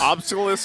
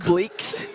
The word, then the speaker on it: obelisk: Yeah, an obelisk. Is that how you say it? Obelisk? Yes. Obelisk. I'm playing the wrong game here. Monolith. It's a big. Is it rock. not obliques? It's not that. That's a muscle group.